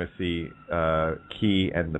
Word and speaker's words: chi: it looks like our X and Greek it's pronounced key and of course when I see ch I